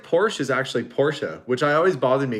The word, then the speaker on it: Porsche: would think um just like porsche is actually porsha which i always bothered me because i didn't